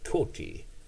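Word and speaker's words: coati: animal it's uh the toti uh c-o-a-t-i and they pronounce it with a Q on the front like quality and uh cute little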